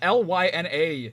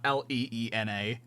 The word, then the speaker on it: Lena: It's Lyna, you clown, not Leena. You absolute doof. It's like Lina, but not pronounced that way.